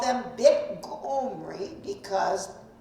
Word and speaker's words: Omri: So they called them Bit Omri because in their language, Omri would have been pronounced Gomri, the heart, Gomri, or Bit Kumri, depending on which part of the kingdom of Assyria was calling these people.